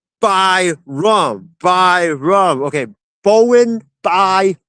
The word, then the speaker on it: Byram: Uh, Ken says it's Bo by rum. Bo. Okay, perfect. Thank you. Um, Callen says it's pronounced by rum.